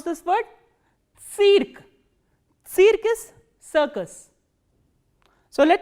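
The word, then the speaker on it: цирк: How will you pronounce this word? Cirque. Cirque is circus. So, let us revise all these words once again. Stancia, which is station, Tsitok, flower, Tsyentr, center, and cirque, circus.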